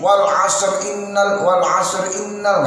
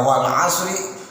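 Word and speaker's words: والعصر: Tapi kalau wal 'asr innal nggak boleh, itu namanya nggak jelas. Dinyatakan wakaf juga bukan, dinyatakan wasal juga bukan. Mengapa? Wal 'asr bacanya wakaf tapi disambung nyatanya. Dinyatakan wasal tapi bacanya di wakaf, model wakaf.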